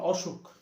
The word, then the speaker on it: অসুখ: আমরা বলতে পারি যেমন অসুখ এখানে কিন্তু স্বরের পরে উ আছে রস আছে কিন্তু দেখা যাচ্ছে উচ্চারণটা হচ্ছে হয়ে যাচ্ছে হচ্ছে অ এর মত সেটা আর ও এর মত হবে না যেমন অবিচার এটা আর